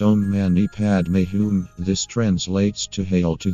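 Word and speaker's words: Om mani padme hum: meaning and help you avoid distraction Amani padam pronounced ohm mani padme whom this translates to hail to the jewel in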